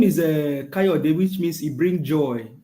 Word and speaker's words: Kayode: I can see Koyedo Oladoyinbo. You say Obi can never be president. Hi, my brother. No, let me pronounce the name for you, sir. His name is Kayode. It's Kayode Oladoyinbo.